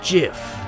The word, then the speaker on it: GIF: your head like a gif it's not the truth it's pronounced jiff huh dot jiff like the peanut butter the creator said so that's dumb it's graphics